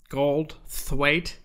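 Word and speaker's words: Goldthwait: you say his name it's bobcat gold's weight gold thwaite that's right um who who's the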